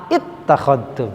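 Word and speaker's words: اتَّخَذْتُمْ: Asalnya hamzahnya ada 2. Ittakhadtum, ya. Nah, kalau hamzah wasol terkadang memang bisa dibuang, ya. Tapi kalau hamzah ini nggak bisa, ya. Nah, kenapa? Karena kita bacanya wasol. Ini namanya hamzah wasol, ya. Ittakhadtum, gitu ya.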